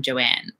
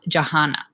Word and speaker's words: Johanna: just the best yes you pronounce the H but mostly just say my name Joanne and I'm abroad when I'm abroad I love Johanna that's Johanna or Johanna